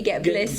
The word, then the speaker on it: Get Blissed: I've got to be careful with how I pronounce oh yes, Saf, it's with a B. Get Blissed.